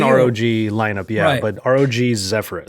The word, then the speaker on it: Zephyrus: it is an Rog lineup yeah but Rog zephrus zephrus that's it uh 14 and 16 and I